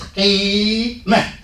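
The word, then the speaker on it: قيما: So it's qima. It's two more syllables. Qi, and not ki. Ki, and I go in the throat. Ki. Ki would be another letter.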